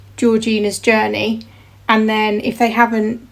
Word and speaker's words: Georgina's Journey: So anyway, how it's pronounced is quite simple, and it is just Georgina's Journey.